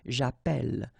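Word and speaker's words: j'appelle: in the previous video if you have you know Double L like that it will affect the pronunciation of the uh so actually it will open the sound and that's the reason why you will get the sound a okay japel japel all right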